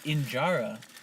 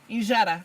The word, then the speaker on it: injera: So you can have that injera.